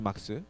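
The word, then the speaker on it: Marx: 적어놨어 어쨌건 어 뭐 막스 발음은 그죠 박스죠 막스 그죠 막스 이렇게 예 별 반응이 안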